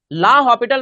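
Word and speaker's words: L'Hôpital: rule क्या बोलते हैं एल हॉस्पिटल मत बोलना भाई एल हॉस्पिटल रूल बोलता है टीचर लो प्रोनाउंस करता है एल हॉस्पिटल रूल पर वो हॉस्पिटल नहीं है एस है ही नहीं इसमें ठीक है एल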